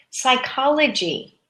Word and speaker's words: psychology: are a bit longer psychology psychology we say it as if the p was not there psychology psychology is the